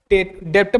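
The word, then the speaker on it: debt: हालांकि डेप्ट लिखा गया है, लेकिन जनरली हम डेट बोलते हैं इसको। लेकिन अगर आप अपने प्रोनाउंसिएशन में दिक्कत है तो डेप्ट, बी को साइलेंट करके डेप्ट बोलिए।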